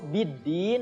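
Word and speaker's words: بالدين: Nah, di situ biddin ada alif lam syamsiyah, ya. Alif lamnya tidak dibaca, jadi langsung masuk ke huruf dal, ya. Biddin, din juga sama itu mad arid lisukun.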